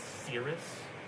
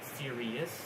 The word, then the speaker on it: Sirius: People think it's Cirrus because of the word before it, but it's Sirius, and then Cyrus.